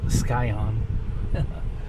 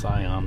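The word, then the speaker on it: Scion: this uh this uh skion I know it's pronounced cion but I like to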